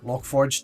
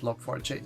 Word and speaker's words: Log4j: pretty much everything is about lock 4j or logforge depending on how you want to pronounce it i'm going to pronounce it log4j so it's a caveat there uh for those